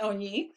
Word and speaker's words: Onyi: Onyi Mhm. sounds like only, but it's pronounced Onyi.